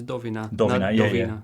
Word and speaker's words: Dowina: name doina uh okay so the pronunciation is doina well it's actually you